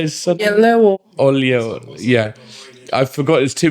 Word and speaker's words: Oyelowo: Oyelowo, yeah.